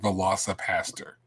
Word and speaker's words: Velocipastor: Velo aaster but and no I'm not mispronouncing that she did not mispronounce that we said velosa Pastor which is weird because